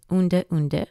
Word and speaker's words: Udre Udre: Ratu Udre Udre, pronounced Unde Unde, was a Fijian chief, Ratu meaning chief, in the north of Viti Levu, one of the Fiji Islands.